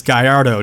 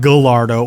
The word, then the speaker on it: Gallardo: Portia not Porsche Lamborghini Gallardo is Guyardo not Gallardo or Gaillard Oh a lot of people say it like that Elle's make a wise sound it sounds a lot better for the car to the Gaillard oh just sounds like a weird a tub of lard and it's really happy or something Guyardo just sounds like an actual supercar that way I always